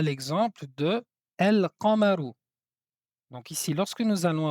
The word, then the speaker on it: القمر: derrière la lettre qaf, nous allons ici prononcer la lettre lam, c'est-à-dire qu'on va appliquer une règle qui s'appelle al idhar.